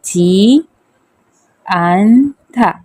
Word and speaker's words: 지 않다: क्रिया क्रिया प्लस जी इसे क्या प्रोनाउंस करते जी अंधा अनथा ी अंधा जी आंधा तो जी अंधा एक